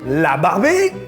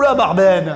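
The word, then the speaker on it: La Barben: Par contre, si tu viens d'ailleurs de Provence, plutôt de Marseille, tu diras alors La barbaine.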